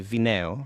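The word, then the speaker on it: βινέω: So this is the word bineo, or I would say vineo, right? So for me, the beta is now pronounced vita, even though I'm perfectly capable of saying bineo.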